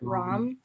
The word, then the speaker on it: Ram: is power or will the mantra sound would be a ram like you would pronounce it rom and you can kind